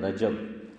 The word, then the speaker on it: رجب: کیا جاتا ہے تو صحیح تلفظ ادا کرنے کی کوشش کریں۔ ہم لوگ بہت سی مرتبہ صحیح تلفظ نہیں کرتے، ہم کیا بولتے ہیں؟ رجب، یہ رجب، میں کہ گجب ہے، ہاں یہ ہے رجب، کیا ہے؟ جیم پر فتح ہے، زبر ہے، رجب، تو کیا بولو؟